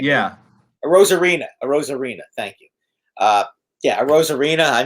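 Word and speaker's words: Arozarena: How do you pronounce Ruzioni? that? Aruziano, or whatever the hell his name is. A Rosarina.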